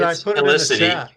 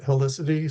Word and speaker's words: Helicity: Helicity and it's spelled like a helix.